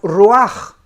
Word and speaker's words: ruach: el original hebreo es la palabra ruaj que se escribe ruach que es la palabra